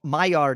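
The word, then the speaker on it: Maillard: help i don't know my yard is it's french it's spelled m-a-i-l-l-a-r-d well the only thing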